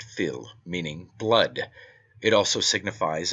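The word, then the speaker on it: fuil: This word is taken from the Irish word phil f u i l pronounced phil meaning blood.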